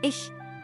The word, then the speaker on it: ich: mentioned earlier in fact in German I C H is still pronounced as ish and in Dutch it's